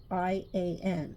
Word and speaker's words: Ian: It is Ian. I-A-N is Ian. But I guess some people could pronounce it Ian, but it's Ian.